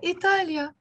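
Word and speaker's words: إيطاليا: way I write it, but it's the same way you pronounce it in the actual country itself. Joe, what do you read here? Italia? Eh, Italia.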